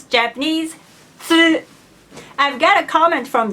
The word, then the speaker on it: つ: Many Japanese people misunderstand that cats and katsu have the same sound.